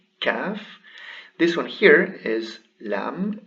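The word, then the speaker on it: كاف: written like this and it is pronounced as a regular ka kaf this one here is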